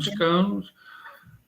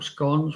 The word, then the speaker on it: scones: You pay something like about £3 and can come home with a pizza or some scones or scones, whichever way you like to pronounce it.